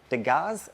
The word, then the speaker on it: Degas: Is D E G A S D Gaz actually is probably how it's said.